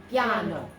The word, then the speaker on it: piano: Piano, piano, okay? Just 2 syllables only and not 3.